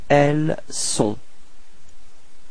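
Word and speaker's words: elles ont: So actually this uh first sound I mean this s is the the the only way to uh dissociate from avoir uh for ill and l. Okay. So don't be afraid to pronounce this s uh quite strongly.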